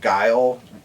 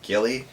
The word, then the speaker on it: Guile: Guile, we never said Guile correctly. We called him Gilly.